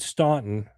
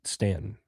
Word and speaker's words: Staunton: was asking for direction, if they said Staunton, which is what it looks like, they would know that you were from the North and that you were a Yankee. So the South, they pronounce it Stanton.